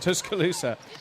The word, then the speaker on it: Tuscaloosa: Tuscaloosa.